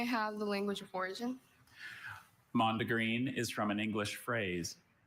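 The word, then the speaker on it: mondegreen: Mandreen.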